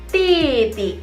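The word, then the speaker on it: 弟弟: Kalau kamu punya adik laki-laki sebutannya titi, adik laki-laki.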